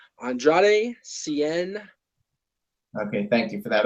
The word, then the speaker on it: Andrade Cien: And then we had Bobby Roode against, how do you pronounce his name? Andrade Cien.